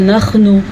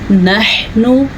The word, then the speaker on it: نحن: شئنا بدلنا أمثالهم تبديلا۔ نحن حا کے تلفظ کا خاص طور پہ دھیان رکھنا ہے۔ اکثر لوگ اس کو پڑھتے ہیں نحنو، اور کوئی اس کو پڑھتے ہیں نخنو۔ یہ ہے نحنو، یہ کیا ہے؟